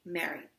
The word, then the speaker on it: Mary: Like rhymes with cherry. Mary.